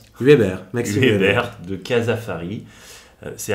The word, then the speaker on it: Hueber: Comment on prononce ? Huber, Maxime Huber de Casafari.